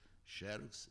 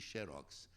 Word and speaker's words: xerox: Então, ficaram as duas pronúncias, xerox e xerox.